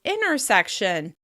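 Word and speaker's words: intersection: It's very common to say these two words as "innersection, innersection" or "innerstate, innerstate."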